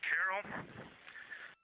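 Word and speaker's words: Carroll: And we would like to call it Carol, and you spell that c a r r o l l.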